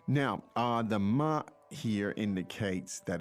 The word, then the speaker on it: 吗: So it's first tone, right? It's neutral tone.